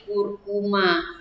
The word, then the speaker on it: Curcuma: makan menjadi huruf call dibaca mula huruf C bertemu dengan guru kuwuk contohnya Nur cuma dibaca atau dilafalkan menjadi Curcuma contoh berikutnya fructus akan